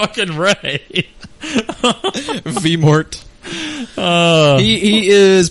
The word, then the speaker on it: Ralph: pronounced his name it's Ralph it's spelled Ralph but he actually does pronounce his name Ray I don't care it's